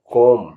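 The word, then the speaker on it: comb: अभ्यास भी करें बी से साइलेंट जहां बी साइलेंट होगा मैं बता रहा हूं सी ओ एम बी कोम कोम माने कंघा एल ए एम B lump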